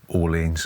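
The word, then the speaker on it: Orléans: medieval bag building game called Orleans, or Orleans as we like to say because we're English and we're not going to pronounce the French load of nonsense.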